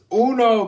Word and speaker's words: Uno: It's pronounced Uno, Godzilla. But Uno means one, so technically wouldn't Uno mean the game one? But anyway, yeah, you're right, it's Uno.